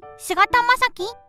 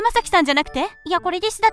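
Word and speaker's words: 菅田将暉: Тогда этот актер, возможно, "Сугата Масаки?". Tomoe: Ты имеешь в виду "СУДА Масаки"? Else: В этом кандзи не читается "SUDA"... А, так тоже может читаться.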